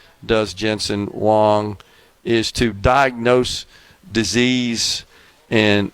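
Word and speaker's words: Jensen Huang: But he uh he pointed out that Jensen Wong the some people pronounce it Wang, some people pronounce it Wong, H U N G.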